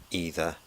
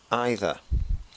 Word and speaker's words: either: has the same meaning both pronunciations are acceptable neither neither either either now some people say